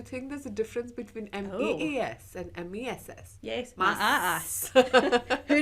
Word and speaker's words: Maas: Maas. That's how you pronounce it. She has two A's. I'm saying Maas. I don't know. There's no... But Maas. you know, MESS is also pronounced Maas.